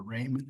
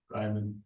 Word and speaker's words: Raymond: Pay application number one, Raymond Construction or Raymond. How do you say that? Ryman.